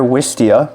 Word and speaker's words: Wistia: Wistia, basically how it sounds is spelled.